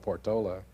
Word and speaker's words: Portola: if not in the portala which some do some called Portola but I guess that's a local pronunciation of portala where should it be